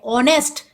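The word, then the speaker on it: honest: एन आता है क्योंकि हम एच जरूर है हम उसको प्रोनाउंस ओ कर रहे ऑनेस्ट जब भी वोवेल्स वाला साउंड आता है तो उसके सामने एन आता है क् नंबर थड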